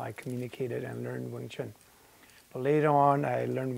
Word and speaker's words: Wing Chun: In Putonghua, Wing Chun is pronounced Yong Chun.